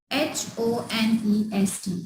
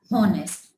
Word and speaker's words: honest: HONEST. It's not honest. It's honest. We take start from a vowel sound O.